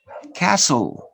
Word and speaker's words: castle: fast to the notes the letter t is silent in a few words listen notice listen castle no castle castle listen